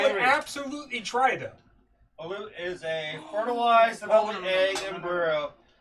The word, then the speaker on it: balut: Sorry if I mispronounce this. Balut. Sounds familiar. B-A-L-U-T.